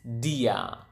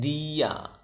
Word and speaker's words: dia: You just simply say the same word, which is dia. Again, dia.